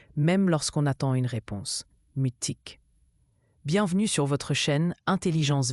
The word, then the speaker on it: mutique: Mutique se prononce mutique.